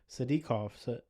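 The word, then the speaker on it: Sadykov: That's how you say it. Sadikov. Sadikov.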